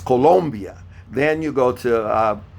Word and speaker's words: Colombia: venezuela colombia don't say colombia colombia that's a oh colombia okay i know we've been uh pronouncing it differently in in the united states of america but it's colombia then you go to